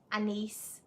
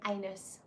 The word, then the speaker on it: anise: cinnamon clove a nice I like to pronounce a nice very specifically because when people say often on YouTube videos they say anus or Alice and I don't really want